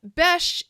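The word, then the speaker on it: Besh: yay Mike yeah so Bes is how you say B in arabes okay and there is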